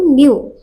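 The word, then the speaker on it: knew: তেতিয়া আমি এইটো কওঁ এইটো কেনিউ হ'ব নহয় এইটো নিউ ইয়াত কেটো সাইলেন্ট আজিতো মই সাইলেন্ট একো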